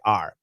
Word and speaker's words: our: song called our house it's our house nobody says our house well you can you should that's perfect pronunciation but almost always we say are and all this and